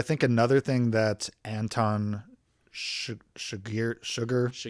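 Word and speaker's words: Chigurh: Um, so I think another thing that Anton Shagir Sugar Shagir Shagir Shagir,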